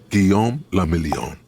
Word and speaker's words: Guillaume le Million: Guillaume le Million. If it doesn't rhyme, you're not pronouncing it right. So that's a basic lesson in French, right?